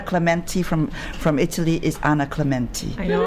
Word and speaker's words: Clementi: I still couldn't see what the argument of fuss about Clementi was, because it is pronounced Clementi. No, it's no. No, you're wrong. No. Go and ask any Italian.